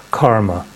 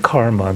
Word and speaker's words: karma: It's actually a short A, not a long A, but this is a word that through Theosophy has entered the English language.